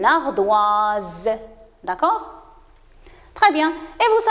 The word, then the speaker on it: ardoise: entre eux deux voyelles vous avez s entre le i et e alors il va être prononcée z on dit une ardoise d'accord très bien et